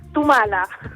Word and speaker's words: Thumala: Tal cual, Tumala. Ah, Tumala, ya, porque sí, como tenía esa TH no sabía si es que era anglo o no, y no quería decirlo mal.